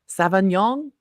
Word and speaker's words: Sauvignon: Sauvignon.